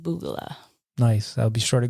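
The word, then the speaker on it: BOOGALAH: is pronounced Boogala.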